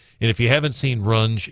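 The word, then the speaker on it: Runge: to the event and if you haven't seen Rune it's just gorgeous wonderful facility they do a great job so it's run not rungi run it's pronounced run because I had a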